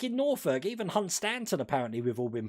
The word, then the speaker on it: Hunstanton: But like in Norfolk, even Hunstanton apparently we've all been pronouncing wrong. It's supposed to be Hunston. Hunstanton is Hunston.